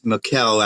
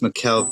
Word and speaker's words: Michel: based on the Annalise McKell actually it's pronounced Mikkel she's German everybody's tall so mischievous